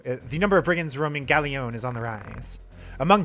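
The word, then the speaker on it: Gallione: uh I think it's gallion I think this is one of those instances where you actually do pronounce the L's uh so the number of brins roaming gallion is on the rise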